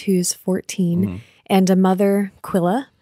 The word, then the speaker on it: Quilla: a brother Pete who's 14 and a mother Quilla right he's a teacher okay yeah it's pronounced quillin audiobook yeah in the audiobook they call her Quilla which is all right calm down Q and